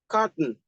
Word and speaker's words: carton: Carton is a noun. Because it's a noun, and our rule says that if we have a word that is a noun, we should stress the first syllable.